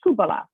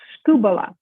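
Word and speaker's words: σκύβαλα: And if you pronounce that, it says skubala. This is an S kind of sound. Sku, this is a B-B-B-L, skubala.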